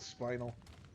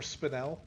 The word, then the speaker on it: spinel: I'll check out the lower floor, then the upper floor, and get that spinal. It's on the roof or spinel, I think, is how it's pronounced.